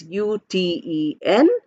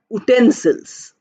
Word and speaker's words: utensils: Look at the pronunciations. It is not pronounced as utensils. Although it starts with a vowel sound, oo, but it's pronounced as u, y and oo. Y is a consonant. So we say utensils.